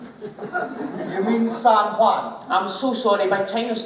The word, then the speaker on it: San Juan: We went to San Juan. You mean San Juan? I'm so sorry, my China's not as well travelled as I am. It's the J is silent, it's H.